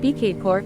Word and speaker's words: Bhaktapur: Bhaktapur Nepali and Sanskrit, Bhaktapura, pronounced Bkadpur I, lit.